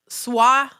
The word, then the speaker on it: Swa: It's pronounced swa, not sway.